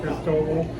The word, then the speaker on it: Cristobal: That's fine, Cristobal. Cristobal. I still didn't get it right, did I? Cristobal. Cristobal. Oh, like Chernobyl.